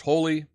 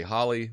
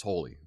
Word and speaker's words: Holi: now remember it's pronounced holy I look at it in my head I say Holly it's holy uh like um like a whole thing whole world holy um also like something